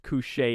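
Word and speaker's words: Cù Sìth: Cu Sith are spectral hounds from Scottish Highland folklore, pronounced cu sìth in Scottish Gaelic with the name translating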